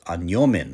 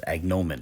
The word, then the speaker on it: agnomen: at the entry for anomen or agnomen is the more popular pronunciation in English and it reads quote